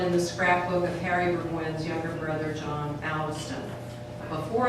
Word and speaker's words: Burgwyn: I used to tell my students that Burgwyn is iambic. And if you say Burgwyn 5 times, you have iambic pentameter. That's how I would remind them that the accent went on the second syllable.